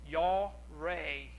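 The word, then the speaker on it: yare: i butcher this pronunciation the spelling is y a r e and it's pronounced yaw ray the definition is to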